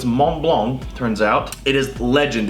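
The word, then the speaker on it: Montblanc: and i knew that i would it is pronounced mont blanc because turns out the mont and the in the the t in the mont and the c and the block they are silent so it's mont blanc turns out it is legend it was the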